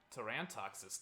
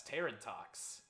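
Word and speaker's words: Tarantox: toran toxis tangled web as a kid i pronounced us terran talks cuz i didn't know it was supposed to be a pun on tarantula so or a play on the word tarantula and as you may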